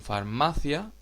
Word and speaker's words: farmacia: de acentuación por ejemplo la sílaba tónica en farmacia es ma es una palabra llana terminada en vocal por eso no tiene